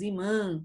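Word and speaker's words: ímã: E como o tio dá uma forcinha na sílaba, a gente vai ter que colocar um acento, certo? Para o acento deixar a sílaba mais forte. Não é imã, é imã, certo? Não é imã. Para não lermos imã, a gente põe um acento no i. Imã, certo? O acento está no i.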